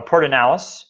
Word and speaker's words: Pedernales: Natural Area we have Pedernales falls or port and alice is actually the correct correct way to pronounce it that is a great